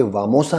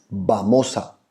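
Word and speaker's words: vamos a: जी नहीं, स्पेनिश में वी को हम लोग बी बोलते हैं। मतलब जब हम लोग प्रोनाउंस करते हैं तो वी का साउंड बी जैसे निकलता है, तो ये वामोसा नहीं है, इट इज बामोसा। जी हाँ, बामोसा।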